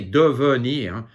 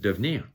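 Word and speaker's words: devenir: almost like a non-sound so you can say for example become the second e it you can say de vernier but mostly it's just divnir so you get used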